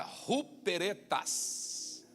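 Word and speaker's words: ὑπηρέτας: A segunda palavra, ruperetas. Ruperetas. Pode ser com H ou com U, R, como você quiser. Ou escreve com H-U ou com R-U, tanto faz. O importante é que você pronuncie, ruperetas. Ruperetas, Paulo diz assim lá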